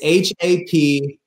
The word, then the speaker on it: Hapbee: name your company happy it's not spelled like happy it's h-a-p-b-e-e the logos of b right so it's hap b we want people